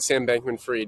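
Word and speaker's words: Sam Bankman-Fried: that is insane um yeah so i did pronounce that right sam bankman freed yeah so he's one of the richest guys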